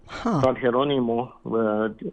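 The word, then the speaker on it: Jerónimo: Heronimo, spelled with a J uh, as a Catholic saint.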